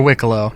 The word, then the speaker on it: Wicklow: It's not going to be only through Wicklow in, or Wicklow. No, it's Wicklow. They explicitly said that it is Wicklow.